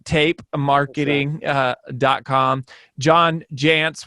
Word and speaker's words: Jantsch: marketing dot com john jantz which is pronounced like pants but spelled a little bit different um but if you